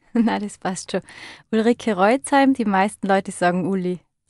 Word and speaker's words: Roitzheim: Könnte sein, dass ich ihn falsch ausgesprochen habe. Nein, das passt schon. Ulrike Reutzheim, die meisten Leute sagen Uli.